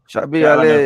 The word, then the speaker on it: Shabir Ali: Shabir Ali, pronouncing it correctly.